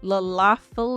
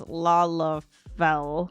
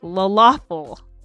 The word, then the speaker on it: Lalafell: but I also have a tendency to pronounce Lalafell like Lalafell.